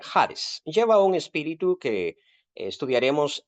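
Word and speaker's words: ᾍδης: y no se dice haides si no se dice Hades lleva un espíritu que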